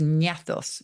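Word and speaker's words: γνάθος: the Greek for jaw which is nietos with a silent G g-n-a-t-h-o-s and that by the time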